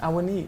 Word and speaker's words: Awoniyi: Awoniyi.